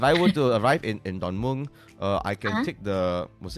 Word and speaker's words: Don Mueang: Don Mueang. Don Mueang. Don Mueang, yeah. If I were to Good arrive in job. Don, thank you, clap. If I were to arrive in Don Mueang, I can take the, was it LRT to